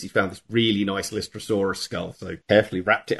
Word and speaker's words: Lystrosaurus: did we call the Lystrosaurus a dinosaur, we actually, on the day when we were filming, we mispronounced it and we said Lytosaurus.